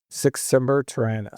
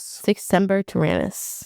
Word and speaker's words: Sic semper tyrannis: How do you pronounce it in Latin? Sic semper tyrannis. Sic semper tyrannis. Semper, like always, like, Semper Fi?